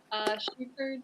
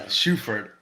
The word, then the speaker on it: Shuford: Sam Shuford, did I pronounce that right? Shuford, but yeah, more like the shoe emphasis. So Shuford, yeah.